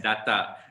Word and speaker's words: data: Now, DATA in English, you can pronounce it as data. And guess what? When you pronounce it as data, it's not British English. It's American English. British English is data.